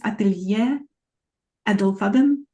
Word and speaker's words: Atelier Edelfaden: So we were practicing, I think it's Atelier Edelfaden. How's that? That's correct. That's correct. That's pronounced very well.